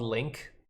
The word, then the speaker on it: LingQ: a few years now it's called link but it's spelled lingq there it is here's